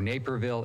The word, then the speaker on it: Naperville: But we've got the Naperville, I was saying it wrong before, Naperville, Illinois ruling, the Supreme Court, not Supreme Court, the 7th District Court ruling.